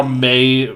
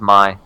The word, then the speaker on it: Mei: Do you pronounce it as Mei? Yeah. I always thought it was Mai.